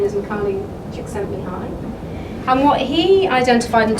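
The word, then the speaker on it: Csikszentmihalyi: written you'll never million years be able to pronounce it but trust me his name is improbably excelled in high and what he identified and talked about was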